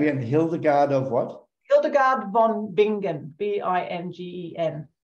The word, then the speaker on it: Hildegard von Bingen: Hildegard von Bingen, Bingen.